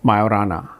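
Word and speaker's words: Majorana: by uh eto to Mayorana. Uh this J is silent.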